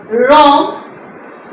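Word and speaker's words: wrong: यहां पर डब्ल्यू जो है वो साइलेंट होता है। Right रॉन्ग and wrist.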